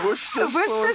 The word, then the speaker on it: Worcester: You pronounce it. Worcester sauce.